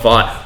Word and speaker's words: Vought: of you reviewers and people who are pronouncing it Voight, where the fuck are you getting that from? It's Vought. They say Vought like several times throughout the show, so I don't understand where Voight's coming from.